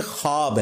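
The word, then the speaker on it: ख़्वाब: सकता अच्छा ये लफ्ज लिखने में है ख्वाब खवा वाओ अलिफ बा लेकिन पढ़ने में यह खवाब है व साइलेंट हो जाता है ख्वाब पढ़ा जाता है यह लफ उर्दू में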